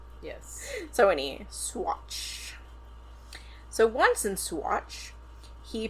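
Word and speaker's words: Saguache: agency, he went to the nearby town of Swatch. We're going to hope I pronounce that right. Amy looked it up for me earlier. It's spelled s a g u a c h e and so I wanted to pronounce it.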